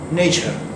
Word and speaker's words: nature: अगला वर्ड जो लिखा हुआ है NATURE, ये नेचर, नेचर, नेचर। यहाँ भी देखिए आर प्रोनाउंस नहीं हो रहा है, नेचर, नेचर, church, match, नेचर।